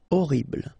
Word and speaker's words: horrible: Horrible. Okay, first letter is H, but then we don't pronounce H, so you don't pronounce it. And the first thing you hear is O, horrible.